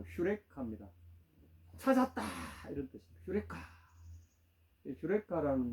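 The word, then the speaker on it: εὕρηκα: 예, 유레카. 우리는 유레카라고 알고 있는데 원래 원문대로 발음은 휴레카입니다. 찾았다 이런 뜻입니다. 휴레카.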